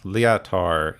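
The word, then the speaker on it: Liator: Leotar, yeah. It's spelled kind of like leotard, but with an O.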